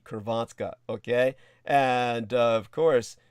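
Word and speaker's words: Hrvatska: well croatia would be kervatska okay and uh of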